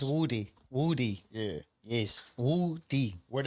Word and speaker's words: Woody: So could you tell us how the name is pronounced and the world how the name is pronounced? It's Woody.